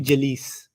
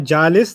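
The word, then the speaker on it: جليس: rhyming with raw him if i just sat here all the time i'd be jalees that's not jalis that's jallis it's an always thing okay so the fact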